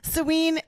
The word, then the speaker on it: Samhain: episode 3 three yes sine is the Halloween name in spirituality and in all these different practices that we do. So is it coincidential that it remi that it rhymes with Halloween?